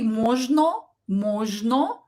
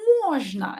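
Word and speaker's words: можно: stressed or is not stressed so we will pronounce it as a na so don't say mojno no say mujna and you will sound more like a native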